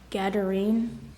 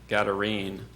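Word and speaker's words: gadarene: any pronunciation other pronunciations there's a slight stress variant gine garine you can tell these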